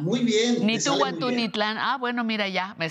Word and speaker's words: Nitu wantú ni tlan: ¿Cómo se pronuncia? A ver, dime. Ni tú, guantú, ni tlan. Muy bien. Ni tú, guantú, ni tlan.